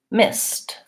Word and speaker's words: missed: so in that word even though it's spelled with a D I say a T sound it's spelt sound it sounds like this stop stop similarly like liked or miss missed so the word missed